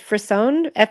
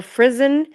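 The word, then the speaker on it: frisson: it's called f okay it's frisone or frisen r i SS o n and it's said an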